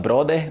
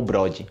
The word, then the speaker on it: brother: Y las personas pronuncian "broder" o "bródi".